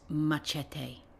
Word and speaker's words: machete: And do they get a machete? It's pronounced machete.